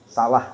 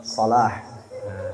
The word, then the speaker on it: Salah: Muhammad Salah. Orang tidak tahu kenapa Muhammad Salah. Kalau kita yang paham jangan Muhammad Salah bacanya. Sayang Muhammadnya itu. Jadi pakai sod. Jadi tulisannya sod.